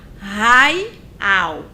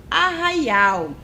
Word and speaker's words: Arraial: sílabas elas são divididas Olha como eu falo a palavra Arraial a Arraial Arraial ela tem três se lá mas e a sílaba mais forte é a última é o ao por isso é chamada de oxítona como é que eu